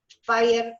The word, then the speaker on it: Speyer: origen de los Speyer, de los Speyer, ¿sí? Speyer es como se pronuncia.